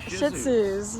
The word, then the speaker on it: Shih Tzu: We've got black and white Shih Tzus. Yeah. The T is silent. Shih Tzu.